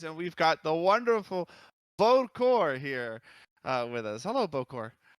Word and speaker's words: Bokor: It's just Bokor. Oh, it's Poker. Boker. Okay. Like Okay. Yeah, poker. I'm sorry.